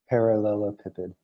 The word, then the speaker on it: parallelepiped: Parallelepiped.